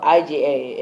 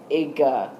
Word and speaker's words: IGA: It's spelled IGA, and it is pronounced Iga.